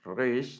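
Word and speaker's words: ריש: La letra resh, resh, no es solo aquí en la boca, sino que es un poco aquí en la garganta, resh, ¿verdad?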